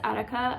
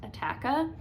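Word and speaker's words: Attacca: Then I always want to call this Attica. I think it is actually officially pronounced Attaka.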